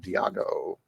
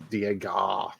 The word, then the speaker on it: Diago: Diago. Are you sure that's the name? Tarzan, let me know what it is. I mean, It's pronounced Diego. Diego.